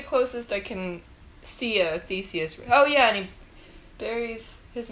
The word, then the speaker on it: Theseus: It follows maybe a side story of Theseus I'd never heard before.